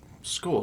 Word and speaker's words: Skål: Yeah, like like the and skull like the chewing tobacco.